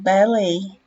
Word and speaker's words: ballet: Sempre que a palavra for estrangeira para o inglês, ela costuma ter uma pronúncia afetadinha, vamos dizer. Então, o buquê que a gente fala, que deve ser origem francesa, eles falam bouquet. O balé que a gente fala, eles falam ballet.